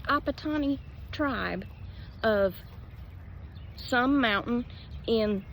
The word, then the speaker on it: Apatani: Apatani tribe of some mountain in something of Pradesh, India.